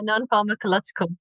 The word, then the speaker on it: non-pharmacological: Uh when you mentioned non-pharma- How do you pronounce that word? Yeah, non-pharmacological.